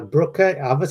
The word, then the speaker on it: Brucker: so much stuff uh it's is April uh Brooker right yes Brooker you said right very good you know a